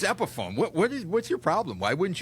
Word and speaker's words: Epiphone: And the brand is actually called Epiphone. And it was a perfect example of the guy did not make me feel like an idiot for not knowing what the brand name was or saying it wrong. And, was nurturing and welcoming in that. But that is an example of, I could see sometimes gamers being like, you idiot, that's not called Epiphany.